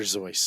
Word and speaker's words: Seuss: anyone going around uh correcting people they're saying Dr Seuss don't be that guy yeah especially kids it's not Dr zoy well you read me Dr Seuss you idiot it's Dr zoy he ended up graduating